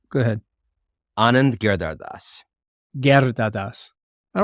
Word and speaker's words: Anand Giridharadas: Well, how would you pronounce the name? Go ahead. Anand Giridharadas.